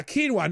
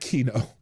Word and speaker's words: quinoa: Quinoa. Not kino. Quinoa. What the hell's Did I Did I say kino? It's quinoa.